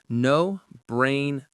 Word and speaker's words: no-brainer: No-brainer. No-brainer. The stress is on brain.